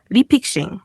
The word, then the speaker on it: 리픽싱: 리픽싱 영어로는 re픽싱 리픽싱이라고 읽습니다.